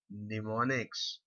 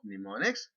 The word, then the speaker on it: mnemonics: uses some form of mnemonics. Now, what exactly is mnemonics? This is the M is silent.